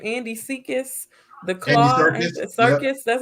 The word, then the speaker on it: Andy Serkis: Andy Serkis.